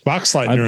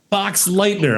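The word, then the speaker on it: Boxleitner: But it was nice seeing Bruce Bixer like really Bruce Bruce Bod, how do I pronounce his name? Box Lightener is right. Yeah, Box Lightner.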